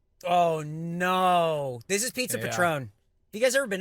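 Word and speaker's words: Patrón: hang on it's pretty it's pronounced Patron just so you know go ahead Patron okay just let you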